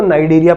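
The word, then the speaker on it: Cnidaria: नाइडेरिया word बच्चों यहां पे सी साइलेंट है, सी साइलेंट है, इसको नाइडेरिया मत पढ़ लेना, इसको नाइडेरिया पढ़ा जाता है।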